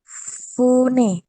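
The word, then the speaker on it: 船: Tapi dibacanya apa fu, nih? Fu. Fune.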